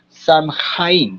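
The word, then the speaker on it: Samhain: fue precisamente el llamado Samhaja, ¿cierto? Que de hecho la palabra es gaélica y la pronunciación como tal es. La la pronunciación de eso es Swin.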